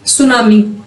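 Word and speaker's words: tsunami: another language पर example सुनामी सुनामी में जो टी है ये साइलेंट है इस एन जापानी शब्द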